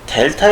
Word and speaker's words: 델타: 되구요 그거를 길기 개념인 x 근혜 y 에서 델타 2 수분의 델타 와 이런 식으로 표현을 하여 줍니다 이 부분은